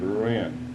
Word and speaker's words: Rouen: I pronounce it Rouen.